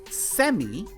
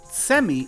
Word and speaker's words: cemi: So, and that word is pronunciated like semi. But the beginning is like saying, you get over here. So you hear that sound. So semi is with a T sound, semi, and it will explain itself.